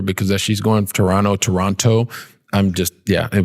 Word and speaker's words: Toronto: which does not have except if you're canadian to say toronto and if you're not you say toronto and you always know the difference if they pronounce that second t they're either not a sports sportscaster or they're not from canada so i'm originally from